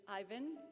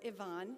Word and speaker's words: Ivan: Our first graduate is Ivan, or Ivan, he will tell you it can be pronounced either way, Akiri.